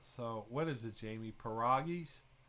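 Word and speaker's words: pierogis: what is it jamie paragus it's a short o not a long enough so the poll lock weighs in folks there he is it's a short o not a long o for pieragis is it like bobby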